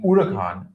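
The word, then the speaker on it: Huracán: Of course, the Lamborghini Huracan or as it's pronounced, the Urkan as well as the Ferrar Ferrari 488.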